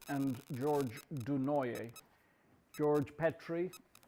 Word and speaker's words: Petrie: you see there, George Petrie and George Dunoyer. George Petrie, nowadays people often say Petrie. It's Petrie or Petrie. But when he was alive, it was Petrie. So nowadays people have altered the pronunciation.